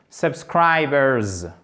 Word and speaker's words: subscribers: C'est un Z. Subscribers. Voilà, bah, tout simplement. Scry, vous partez de cette syllabe, d'accord? Ça, c'est votre syllabe centrale pour la prononciation. Scry, scribers, vous voyez le R, about, scribers, subscribe. De toute façon, si vous faites bien l'accent tonique ici, automatiquement, vous allez prononcer les schwa comme il faut.